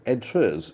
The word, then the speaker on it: address: address okay address an address okay that is on Earth address okay can the accent falls on the second syllable address changing address on